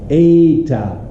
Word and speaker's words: eta: Eta is pronounced eta, A as in cafe.